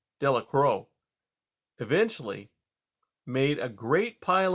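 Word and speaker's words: Delacroix: jones and dicky delicrow the villagers pronounced this name delicrow eventually made a great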